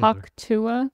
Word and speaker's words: Hawk Tuah: Hawk Tua? Just wait. Just wait. Is that how you say it? Hawk Tua? It's the... She's enunciating the sound of hawking a loogie.